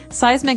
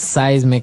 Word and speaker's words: seismic: And so seismic activity refers to earthquakes and volcanoes, things that are changing under the ground that will affect us. Okay. So that's seismic activity.